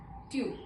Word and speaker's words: tu: Tu.